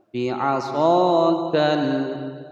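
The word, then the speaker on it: بعصاك: Bi'asakal, kal, jelas ya, tidak boleh pantul. Bi'asakal, nah, itu namanya tawalud atau memantulkan.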